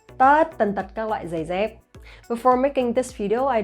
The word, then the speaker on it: giày dép: So you see here that I pronounce the GI sound and the D sound similarly. Giày dép, giày dép. So that's the northern accent, and people from the south, they might pronounce differently.